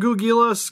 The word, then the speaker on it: Ghoulgilas: So I guess we'll start with Ghoulgilas, because this was the first How do you say his name, Steve?